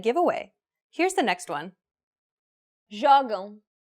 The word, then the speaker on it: Jogam: Jogam. Since this word ends with an M, the stress should be on the second to last syllable, which in this case happens to be the first syllable.